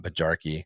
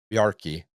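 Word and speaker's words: Bjarki: It's not Baji. I I can pron I know how to pronounce this language. And why am I screwing it up? Barky. Yeah, it is Barky.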